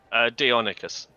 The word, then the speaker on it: Deinonychus: How you pronounce that? The first one? Deinonychus.